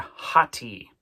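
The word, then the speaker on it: ὅτι: See, it's amocrron tao iota and it's got a rough breathing and an accent there kind of together. So, we're going to pronounce that word hati.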